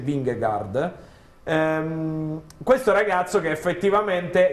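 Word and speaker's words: Vingegaard: tra un po' sentiremo Come si pronuncia in danese wingguard ehm questo ragazzo che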